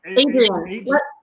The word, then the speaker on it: Adrian: Adrian. Like Rocky.